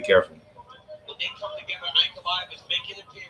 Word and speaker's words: Ankalaev: Instead of chasing, Ankalaev, okay.